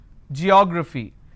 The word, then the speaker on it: geography: Geography. Like I said, do not pronounce this as geography. It's geography. So let's start. It starts with a j sound.